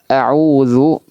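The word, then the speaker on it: أعوذ: Nah, ini diperhatikan huruf dalnya jangan sampai ditebalkan ya. Auzu. Maka di sini butuh namanya irja sedikit. Apa itu irja? Mengembalikan posisi bibir itu seperti semula ya, dalam keadaan netral. Artinya tidak dimonyongkan, tidak juga ee ditarik ya. Tapi posisinya netral.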